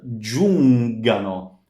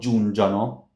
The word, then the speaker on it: giungano: So giungano. It's not giungiano or giungano. Giungano.